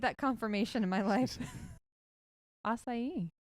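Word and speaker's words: açaí: confirmation in my life assai right is that how you say it I I don't know I'm the wrong person Lindsay says you're right so they literally take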